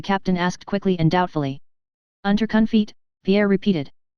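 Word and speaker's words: Unterkunft: shelter Pierre repeated the German for shelter is under conit how do you say it the captain asked quickly and doubtfully UNC feet Pierre repeated onun cough said the captain and looked at Pierre for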